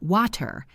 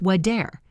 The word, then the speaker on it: water: The word water is not water, it's wader.